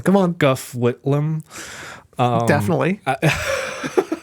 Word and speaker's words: Gough Whitlam: So you start to see, you have two prime ministers, John Gorton and I'm going to mispronounce. Come on. Gough Whitlam. Definitely. Gough Whitlam.